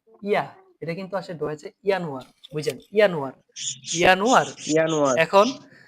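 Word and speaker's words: Januar: এটা কিন্তু ওয়া এর মতো উচ্চারণ করে। তো ঠিক আছে? ইয়ানোয়ার।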